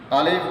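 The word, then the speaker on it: ألف: আলিফ উচ্চারণ করার সময় নিচের ঠোটের পেটের সাথে উপরের দুই দাঁতের আকার সাথে লাগিয়ে মুখে দিয়ে হালকা বাতাস বাইর হবে এবং চেহারায় হালকা হাসির ভাব প্রকাশ পাবে ঠিক এইভাবে আলিফ আলিফ আলিফ এরপরে আসি এরপরে আসি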